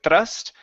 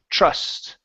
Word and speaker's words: trust: the TR sound here instead of thrust TR trust trust good would not be